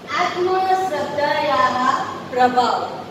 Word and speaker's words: आत्मश्रद्धायाः प्रभावः: आज हम lesson number 3 आत्मश्रद्धायाः प्रभाव। यहाँ पे जो दो विसर्ग है वो विसर्ग को हमेशा हमको ह के इसमें उच्चारण करना होता है।